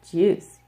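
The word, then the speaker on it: 주스: But the reason why it's pronounced like this, juice, is because whenever shiot is the final consonant in a word, it is actually pronounced like digut.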